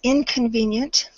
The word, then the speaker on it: inconvenient: in your pronunciation but it's a short I sound so we're going to say it instead of a and so it's inconvenient absolutely okay this this